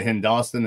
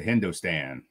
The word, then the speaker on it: Hindostan: you saying that's why you say hen Dawson as opposed to Hindustan because in Martin County they'll get super mad at you if you call it Hindustan it's better say it